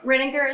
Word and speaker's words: Rininger: Okay, and I'm saying it correctly, Rininger? Is that Ma'am? Rininger is how you pronounce it?